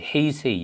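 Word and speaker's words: 平成: 자, 뭐 요거는 이제 헤이세이, 영어로는 헤이세이라고 읽습니다. 평성이라고 읽고, 요거 12 빼면은 이제 우리는 서기로 보면 됩니다.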